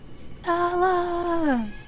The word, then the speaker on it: stele: Stella! The art people say Stella, therefore it is.